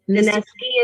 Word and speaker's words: Daeski: Daeski and Daeski is how you pronounce it.